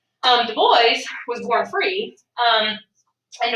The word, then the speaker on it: Du Bois: washington was w.e.b the boys and that is pronounced the boys um the boys was born free um and the boys became